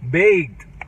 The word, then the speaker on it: baked: Baked. Son baked. Bacon es tocino. Ah, perdón, bake. ¿Bake? Baked. Baked. Ajá. La D tiene que sonar al último porque baked.